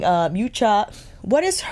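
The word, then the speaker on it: Miuccia: And was saying, Miucha, what is her, how do you pronounce her first name? Yes, Miucha, Miucha Prada, is super economical.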